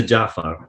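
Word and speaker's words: Ja'far: guy as well as mispronouncing him as Jeff Hager yes jiff Jafar as opposed to Jaffa yeah at this point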